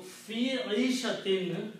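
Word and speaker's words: في عيشة: So, fi Aishatin, it becomes now the pronunciation becomes fi Aishatin means in life.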